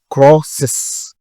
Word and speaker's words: crosses: j'ai pas prononcé ça le moment qu'on prend e pour ajouter avant s là il faut prononcer e qu'on importer donc ça devient crosses she crosses he crosses